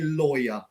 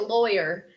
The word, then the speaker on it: lawyer: of students is because the noun law is kind of with the w but lawyer you miss out the W so it's it but